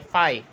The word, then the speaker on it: phi: इसके प्रोनाउंस करते हैं PHI, फाई, ठीक है।